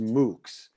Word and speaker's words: MOOCs: online courses anyone can take yeah it's actually pronounced moocs so it's uh it's an acronym yeah it's